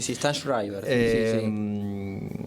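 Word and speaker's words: Sztajnszrajber: Hoy tenemos en filosofía que tenemos a Darío Strasriver. Sí. No sé si lo pronuncié bien. Sí, Strasriver.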